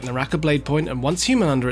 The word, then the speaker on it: Once Human: just quickly say guys he did say humanda once human I believe this voice is AI especially listening to the way he pronounced humanda cuz yeah is once human they just released that